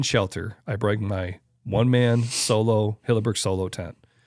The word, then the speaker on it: Soulo: I bring my one-man solo Hilleberg solo tent. It's called the Hilleberg Solo. It's spelled Soulo. It's not solo. It looks like solo, you know.